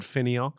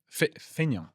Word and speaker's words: fainéant: Okay, what's Do you know the word fainéant? No. It's a French word which kind of means sort of absurdist slacker sort of things that sort of thing. Blagger. Fainéant?